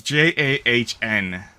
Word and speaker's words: Jahn: John with an A. Sounds like Joe. It's Jahn. Wait, sorry. How'd you spell it? Jahn. Jan? Yeah. It's weird. Right, no, I'm gonna have to do this now. Jahn. Oh, it's Jan. Jan. Jan. Jan. It's German.